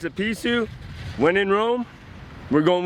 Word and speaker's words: Pisew: So, Google pronounces it Pisew, locals pronounce it Pisew. When in Rome, we're going with Pisew.